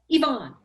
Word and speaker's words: Yvonne: Yvonne, if you want to turn your, see, I even wrote down the pronunciation and didn't do a great job of it. You say it. Yvonne.